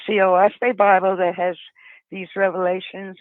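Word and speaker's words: Oahspe: the the the fais it's spelled o a s p and it's actually three syllables which stands for Earth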